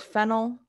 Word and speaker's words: phenyl: So a little bit of pronunciation difference here. This is phenyl. That's phenol.